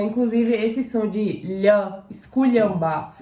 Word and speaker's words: esculhambar: Inclusive, esse som de lhã, esculhambar, é um som que tá presente no idioma croata.